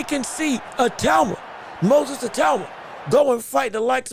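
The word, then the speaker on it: Itauma: No, it is a talma.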